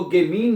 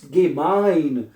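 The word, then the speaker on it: gemein: क्या बनेगा गेमाइन हैं इसको गेमिन नहीं पढ़ना है क्योंकि मैंने बताया जहां जहां पे भी किसी भी लफज़ में जब भी इ आई इकट्ठा आएगा तो उसको आपने आई जो है वो प्रोनाउंस करना है तो आई बन जाएगा दुबि गेमाइन तुम मतलबी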